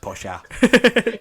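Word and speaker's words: Porsche: It's pronounced Posha.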